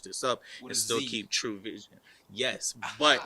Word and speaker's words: TrueVZN: can i switch this up and still keep true vision yes but it's spelled so it's spelled t r u e